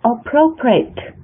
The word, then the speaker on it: appropriate: 那后面的 appropriate 也是一样的，它是以 t 结尾的，是 appropriate.